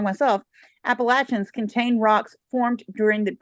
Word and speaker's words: Appalachians: Some of the outcrops on the Appalachians, excuse me, I tried to say it wrong myself. Appalachians contain rocks formed during the Precambrian era.